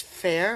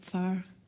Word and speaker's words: Fair: It has a French pronunciation also, Phare.